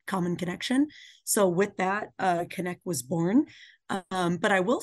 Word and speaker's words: Cennec: So Cennec, we do pronounce that like connection, but with an emphasis on that C-E-N-N-E-C.